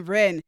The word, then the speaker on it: Wren: her first name is it's r e n wren no last last name is ren but it's spelled w-r-e-n like the bird that's a bird yeah